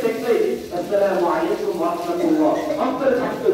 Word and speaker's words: আসসালামু আলাইকুম: দ্বিতীয় নম্বর হলো যে আমরা সালাম দেই কিন্তু সালামে সঠিক উচ্চারণের মাধ্যমে আমরা সালাম দিই না। যেমন আমাদের দেশের অধিকাংশ মুরব্বী এরা কি দাঁত না থাকার কারণে নাকি এমনিতেই সালাম দেয় সালামালাইকুম সালামালাইকুম, গ্রামের শিক্ষা দেবেন সালামালাইকুম, এভাবেই সালাম করে সালামালাইকুম।